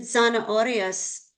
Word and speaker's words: zanahorias: And then zanahorias, it would be, the accent is on the O because it's RIAS. Eso sí. So the punch there would be that O sound, zanahorias, zanahorias.